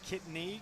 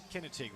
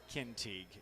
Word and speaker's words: Kintig: delaney scheidenhelm along with jordan kidney or kinetic kinetic was the correct i actually met with the coach to get these pronunciations right so excuse me if we flub up but that's uh jordan kintig is her name anna caster and lily